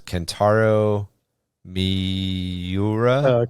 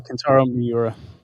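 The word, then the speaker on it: Kentaro Miura: Sandman also canaru Marky you might have to pronounce canaro Miura canaro mura canaro miura's manga berserk is another example of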